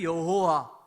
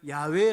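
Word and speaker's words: 야훼: 되는지를 잊어 버린 거예요 그래서 여호와 또는 어떤 학자들을 야외 라고 발음을 해야 된다 이렇게 주장을 합니다 그러다 보니까 하나님의 이름은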